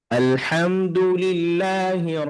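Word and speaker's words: الحمد لله: হরফটাকে কিভাবে উচ্চারণ করি আমি কি লামটাকে আল আলে আলে বলছি কিনা আল বলছি হ্যা হ্যা এভাবে আলহামদুলিল্লাহি রব্বিল আলামিন আর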